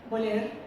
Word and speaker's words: Boller: fue una sorpresa encontrarme con Edelmira, pronuncia Boler, y leer en las